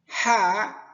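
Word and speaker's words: حاء: Haa ' La prononciation des lettres Haa' Comme on se sent épicé après avoir mangé des piments haa ...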